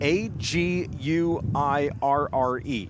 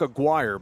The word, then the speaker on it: Aguirre: That is uh Jenna Aguirre. Now, she spells her name A G U I R R E.